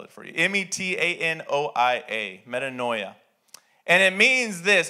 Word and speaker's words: metanoia: from the word it's a greek word called metanoia metanoia i don't i'm not going to tell you how to spell it you just have to guess i'll spell it for you m-e-t-a-n-o-i-a metanoia and it means this it means after